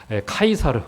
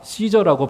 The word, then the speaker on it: 가이사: 시저를 우리가 그 음대로 읽었을 때 가이사. 근데 가이사라고는 의미도 맞아요. 카이사르, 가이사, 시저라고 발음하는 바로 그 로마의 황제를 말하는 겁니다.